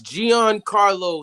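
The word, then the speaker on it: Giancarlo: you also uh messed up on it's it's gian carlo stanton carlo yeah you call them i don't even i couldn't even pronounce what you thought what you call them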